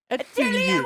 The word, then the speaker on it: atelier: You pronounce it like this. Atelier once, atelier.